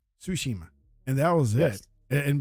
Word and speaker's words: Tsushima: that was it sushima tsushima and that was it and bes like and then ninja guid the the t is silent right and